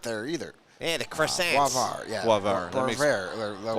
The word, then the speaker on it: Boisvert: Well, then if he speaks French, that tells me we're pronouncing his name wrong. And by the way, for the record, they had Boisford 21st.